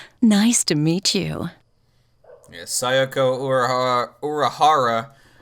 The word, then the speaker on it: Uehara: nice work I'm sayoko uehara nice to meet you yes urahara rhymes with secondary ooh seconds so uh